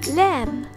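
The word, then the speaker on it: ل: The letter Lam. Repeat with me, La. This letter pronounced like the English L and letter.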